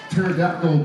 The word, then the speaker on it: pterodactyl: I'm just going pterodactyl because you can't hear them go to the bathroom. Their P is silent.